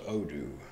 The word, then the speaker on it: Odoo: Yeah, we have a small business, and we actually just went with WordPress recently, but I was checking out Odo. Odo.